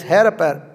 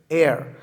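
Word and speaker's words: heir: be appointed as his hair how do you pronounce that not hair air has his air apparent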